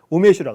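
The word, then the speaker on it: 梅酒: 그래서 일본은 우메슈라고 합니다. 근데 여러분 우메, 매화, 매실, 우메라고 하죠. 뜻입니다. 이거는. 그 다음에 주는 우리 발음은 술주자인데 주고 소리는 일본어 소리는 슈입니다. 슈, 우메슈. 매실주가 되는 거죠.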